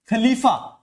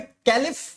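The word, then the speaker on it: caliph: कहा जाता था क्या खलीफा या फिर कैलिफ भी लिखा जाता कहीं कहीं स्पेलिंग में आपको सी एच ए एल आई पी ऐसा कुछ कैलिफ भी दिखेगा सी से स्परिंग स्टार्ट होती है तो कैलिफ भी कहा जाता है खलीफा भी कहा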